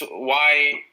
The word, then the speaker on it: YI: No, it's just YI. Oh, wow. Basically, it's just 2 letters, and they make a